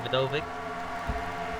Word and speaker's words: Vidovich: And Val Wolf trying to fight off Auggie Vidovich. Vidovich. Am I saying it right? Vidovich, yeah.